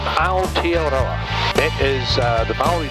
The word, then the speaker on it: Aotearoa: But I was over in Rarotonga and they informed me that the English mispronounced it. It's not Aotearoa, it's Aotearoa, which changes the whole meaning of it.